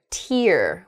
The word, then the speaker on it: tear: tidy ball next a tear a rip in something like you might tear a piece of paper in half the same spelling can also make the word tear which is that drop